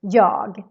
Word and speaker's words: jag: first one yahila day the first word is yog but when you say it really fast we kind of skip the g in the end so just sound like yaw then we have the